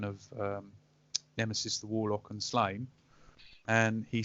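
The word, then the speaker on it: Sláine: We generally have a policy that it's Slain. Right. Just because I'm fairly sure somewhere there's a couple of rhyming couplets that don't work unless you say Slain.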